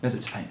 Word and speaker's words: Mesopotamia: Well, how do you pronounce Mesopotamia. Mesopotamia, that's it.